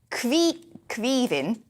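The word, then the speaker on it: Caoimhín: So the popularity of the name, which derived from the Irish Queevin, there we go.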